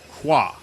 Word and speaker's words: Croix: St Croy or St qua it's Croy right that's how you pronounce it I mean we say it that way probably if you were civilized you would say qua but we're not from